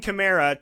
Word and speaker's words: Kamara: a video on this there's chimera and chimera and apparently it's chimera so we finally learned he said say it like a Camaro but put an A at the end so Alvin Kamara Terrance west he says